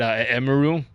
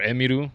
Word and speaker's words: Emiru: Emiru or Emiru if you were to say it correctly, right?